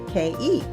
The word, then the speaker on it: Ke: which, when only the initials are used, spells K-E. Always pronounced K, but distinctive.